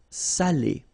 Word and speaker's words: salé: So if you don't put the accent, it means dirty, and then you pronounce it sale. But in that case here, okay, you put the accent, and it's quite important because in that case it means salted.